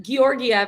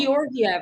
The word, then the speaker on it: Georgiev: I think you pronounce both of the G's, like Georgiev.